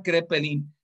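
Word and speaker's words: Kraepelin: todas las enfermedades mentales se llama cree penning la a no se pronuncia escriben y se y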